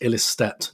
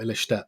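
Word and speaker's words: Ilestedt: Katie Reid selected on the bench over Amanda Illistedt. We have been picked up on that apparently it is pronounced Illistedt, not Illistedt.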